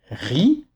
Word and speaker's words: riz: À la fin d'un mot, dans la très grande majorité des cas, le Z est muet. Donc on dira riz pour faire le son,